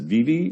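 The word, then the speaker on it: Vevay: small rural area in southeast indiana is it vivi is that the town that's close by did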